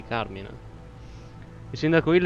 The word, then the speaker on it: Carmine: In teoria è italiano, quindi Carmine.